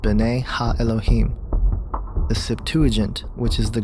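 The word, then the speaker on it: בני האלהים: of God mentioned here in the Hebrew is pronounced Binet ha Elohim the Septuagint which is the Greek translation of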